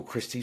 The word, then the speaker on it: Kristi: So, it's Christy, K R I S TI.